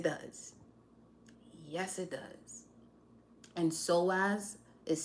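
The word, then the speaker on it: psoas: yes yes it does yes it does and so as is spelled PS o a s just in case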